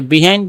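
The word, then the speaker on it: behind: এমন সময় যখন তিনি হাঁটতেছিল, when a বয় র্যান আপ বিহাইন্ড হার, তার পিছন থেকে আসছিল আর কি। এটাকে বিহাইন্ড বা বাহাইন্ড দুইভাবে উচ্চারণ করা যায়।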